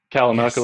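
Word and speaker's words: Kalamalka: And Calamala Lake. Oh, did I say it right? Did I say it right? Yep. Calamaka Lake. Yep.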